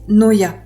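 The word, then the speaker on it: νοέω: Il est composé de deux morceaux en fait deux mots méta et Noeo que je vais prononcer Noya.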